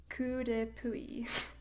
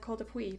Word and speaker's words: Coup de Puy: Coup de Puy. Coup de Puy. I was going to pronounce that Col de Puy, but good to know the actual French pronunciation of that.